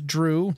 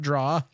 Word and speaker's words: Drew: My name's Drew, not Draw.